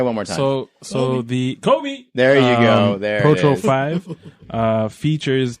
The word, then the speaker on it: Kobe: Kobe Pro TRO 5 you didn't say it right trying it sorry Kobe wait Kobe 5 proto final championship no I meant just the first word what Kobe just like that that's how you have to say it oh yeah